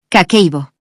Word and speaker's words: Kakeibo: Kakeibo se pronuncia Kakeibo y en japonés significa literalmente libro de contabilidad del hogar.